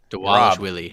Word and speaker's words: Dvalishvili: Turn the V's into W's. Dvalishvili.